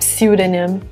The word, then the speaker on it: pseudonym: Yes, not pseudonym. Pseudonym. The first P is silent.